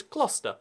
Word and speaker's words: Gloucester: And I say Gloucester, again, sarcastically, because I'm terrible, but the actual pronunciation is Gloucester. That's right, ignore the U, ignore the C, and kind of ignore the E, just Gloucester.